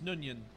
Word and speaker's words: Nguyen: story and screenplay James nun Yin I thought it was a guy in guy no no it's you you don't pronounce the G it's just the end none you have no Union